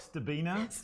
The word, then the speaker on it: Stcherbina: i know everyone hi my name is stebina what is wrong with you okay just